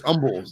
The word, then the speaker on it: Humble: All right, now listen, if you're going to, it's not humble, it's humble, because the H is silent.